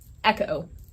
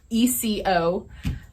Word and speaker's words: ECO: It's the Dan Wesson, I've heard it pronounced Echo, ECO. However you put it, it is a very slim 9mm is my preferred plinking caliber of choice in a 1911 format.